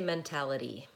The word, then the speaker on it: mentality: How do you say mentality? Is the last vowel a schwa? So no, in that case, the last vowel is an E.